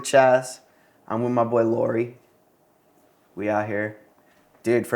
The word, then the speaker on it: Lori: now I'm switching to Lori cuz people can't really spell my last name so I'll just give them the pronunciation of the first half Lori my friend Gio's mom's